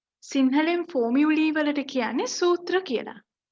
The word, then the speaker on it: formulae: In this video, I'm going to talk about formulae. සිංහලෙන් formulae වලට කියන්නේ සූත්‍ර කියලා. මෙතන LAE තිබුණට අපි sound කරනකොට pronounce කරනකොට LEE. lee sound එක තමයි තියෙන්නේ. lee කියලා තමයි pronounce කරන්න ඕනේ. formulae.